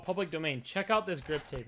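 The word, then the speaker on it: Pvblic Domain: It's spelled like PVBLIC, Public Domain, but it's called Public Domain.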